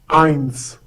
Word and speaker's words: eins: vowel within that word, it is pronounced as in English S.